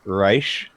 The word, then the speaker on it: Reish: i'm patrick i'm playing race or rice god i can't even pronounce it i'm playing reish it's like rice but pronounced wrong i'm a i'm michael